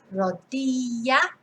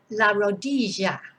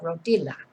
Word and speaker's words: rodilla: pronounce the double l what you mustn't do is pronounce it like a normal l so la rodilla no definitely not but you could say la rodia just like a y